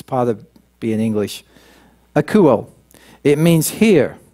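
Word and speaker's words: ἀκούω: let me give you the Greek word it's a cool and I did pronounce that correctly I double-checked sometimes I hear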